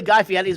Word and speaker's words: Guy Fieri: Well, it's technically Guy Fieri's been on for the past 3 shows.